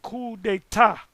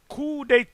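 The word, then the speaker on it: coup d'état: that's also called a cool day cool day the p is silent k is when you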